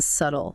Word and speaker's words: subtle: Silent B in subtle. Subtle.